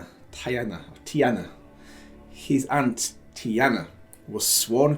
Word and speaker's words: Tiana: His father, is that Peter, was a decorated military officer, while his aunt Tina, why did I say it like that? Oh, it's Tiana.